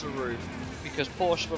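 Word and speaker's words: RUF: or a roof, or even though the pronunciation is roof, everyone says IUF because it's all caps.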